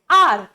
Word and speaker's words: hour: आर का जो pronunciation है वो हमारे जो वोवेल्स होते हैं AEIOU, आर में जो साउंड आता है वो आता है ए का, आर। ठीक है, इसीलिए आर के सामने हम लगाते हैं एन, क्योंकि यहां पर स्टार्टिंग में एक वोवेल साउंड आया है, ना कि कॉन्सोनेंट साउंड, जबकि यहां पर फर्स्ट लेटर हमारा कॉन्सोनेंट था।